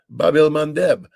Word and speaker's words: Bab el-Mandeb: I mean, the Houthi have shut down the Red Sea, the Bab el-Mandeb.